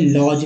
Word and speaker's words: lodge: यहाँ देखिए LM में काम से काम पढ़ते हैं, और DG में लॉज में से ज पढ़ते हैं।